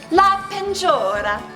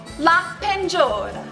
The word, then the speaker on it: la peinture: La peinture. Now repeat after me. La peinture. One more time. La peinture.